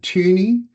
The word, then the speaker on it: Thoeni: Well, it really depends how you, you know, if you're a European, you're familiar with the O and the two little dots above it, and you go tuni.